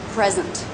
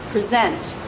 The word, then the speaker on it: present: on the first syllable present but as a verb present present stress is on the second syllable so the two words